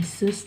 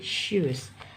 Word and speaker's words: shoes: pertama adalah shoes sepatu Bukan sues tapi shoes kemudian misalnya kata She